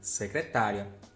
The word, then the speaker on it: secretária: Aqui a gente tem 4 sílabas, aqui a gente tem 5 sílabas. Em A, a gente tem a sílaba mais forte, tá. Em B, a gente tem a sílaba mais forte, ri.